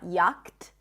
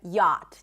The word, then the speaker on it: yacht: We do not pronounce the CH, right? It's not yacht, but yacht, just like a Y sound, Oz and father, and a T, yacht.